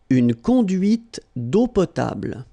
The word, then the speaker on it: une conduite d'eau potable: Final here and here are not pronounced. And then when you combine these two, these three vowels A, U, you get the sound O. Only O. Okay?